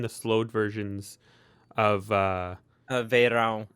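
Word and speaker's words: Verão: slowed versions of uh Veyron it's yeah it's the Portuguese word for summer and a lot of people don't know how to pronounce it I'm Portuguese so like oh that kind of thing clicks with me but uh you could say Vero they don't like whatever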